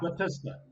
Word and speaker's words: Batista: Batista. Yeah, Batista. Batista. Like the fast one at the end, Batista.